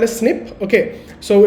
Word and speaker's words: SNP: it is called a snip. Okay. So it is pronounced as snip and written as SNP.